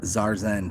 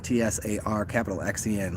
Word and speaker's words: TsarXen: And my name is TsarXen, TsarXen, like Tarzan, but it's the Tsar of Zen.